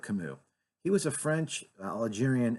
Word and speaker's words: Camus: Anybody that has ever read Albert Camus, and if you look it up, it's spelled Camus, so it looks like Camus, but it's Albert Camus.